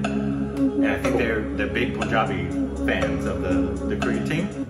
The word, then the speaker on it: Punjab: And I think they're big Punjabi fans of the Korean team. I was speaking in Punjabi and it's Punjab, not Poon. Punjab. Pronounced like Punjab.